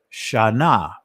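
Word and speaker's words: shanah: ancient hebrew word and it's pronounced sha na now i'm going to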